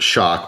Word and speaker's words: XOC: included so it's a model 5400 against it's pronounced shock with spelled XOC I'm glad they put that